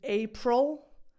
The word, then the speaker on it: April: The pronunciation of this is April, just like pencil.